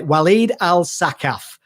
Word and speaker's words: Walid Al Saqqaf: today to be joined on the show by waleed al sakhaf he's told me is the right pronunciation i was a bit worried about it